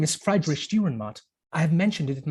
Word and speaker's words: Friedrich Dürrenmatt: Name is Friedrich Dürrenmatt.